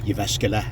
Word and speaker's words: Jyväskylä: Jyväskylä, that's how you pronounce that one.